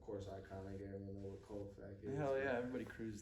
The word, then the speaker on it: CO.FAX: CO.FAX. Yeah. You hear that's CO.FAX, spitting facts.